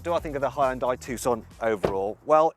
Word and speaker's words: Hyundai: Now, did you know that while us Brits say Hyundai, the correct Korean pronunciation is Hyundai?